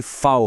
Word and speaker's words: V: वी का उच्चारण व नहीं बल्कि फाओ होता है, एफ की तरह।